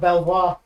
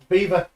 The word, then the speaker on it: Belvoir: No, it's It's like Beaver, it's pronounced Belvoir. Beaver.